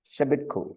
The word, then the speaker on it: Shebitku: And then shortly thereafter, from a coalition of Western states, including Judah under Hezekiah and Egypt under Shebitku Shebitku. Okay, that's how to pronounce. Shebitku is the Pharaoh's name, right?